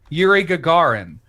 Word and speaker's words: Yuri Gagarin: ex yeah oh here it is here's properly pronounced yuri gagarin russia on monday celebrate the 60th anniversary of